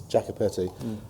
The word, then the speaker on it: Jacopetti: piece of Cinema um should point out the prospering G um it's Jacka petti they actually made this